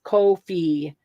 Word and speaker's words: Ko-fi: Here's something that says it rhymes with no fee. So it's Ko-fi.